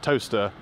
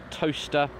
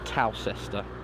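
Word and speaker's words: Towcester: it is actually pronounced toaster for the record I'm uh com's officer at South L Council I can officially tell you uh it is pronounced toaster not tester uh we're inside of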